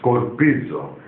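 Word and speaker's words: σκορπίζω: It's a similar pronunciation. Scattered Skorpisa, S-K-O-R-P-I-S-A, Skorpisa. And the present in Greek is Skorpizo, S-K-O-R-P-I-Z-O.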